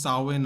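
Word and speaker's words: Samhain: a Celtic Harvest Festival particularly the gelic festival sain you say it's sain although it's written and samin over here I don't know the Kelts have a different way of saying words so it's pronounced sawin apparently which are believed to have Pagan Roots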